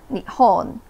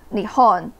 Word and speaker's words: 日本: the Japanese people themselves, they call their nation Nihon, Nihon. Then we call them 日本, 日本. So you can see the pronunciation is pretty close and the character is the same.